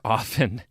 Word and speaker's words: often: to read often or often of course so why do I pronounce the T in often well I do love